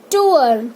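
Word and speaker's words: tour: टूअर, कुछ लोग टूर बोलते हैं, वो रॉन्ग प्रोनाउंसिएशन है. टूअर.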